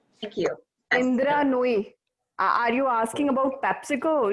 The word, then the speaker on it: Nooyi: And I don't, her name is, and I'm going to butcher the name. I want to say it's Noori. Thank you. Yes. Indra Nooyi.